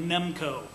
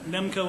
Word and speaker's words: NEMC: We're going with the acronym NEMC, but pronouncing it NEMCO. Just doesn't roll off the tongue to say NIMC, so NEMCO it is.